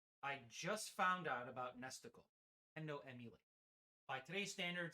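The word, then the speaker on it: NESticle: it's theism SNES 9x nestical which rhymes with testicle and Genesis I remember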